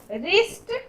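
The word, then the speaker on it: wrist: रिस्ट, रिस्ट में भी W का साउंड नहीं हो रहा है, रिस्ट।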